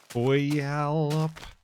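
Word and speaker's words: Puyallup: We yallop.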